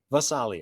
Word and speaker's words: Gvasalia: Vasalia. The G will be silent. The G is Vasalia.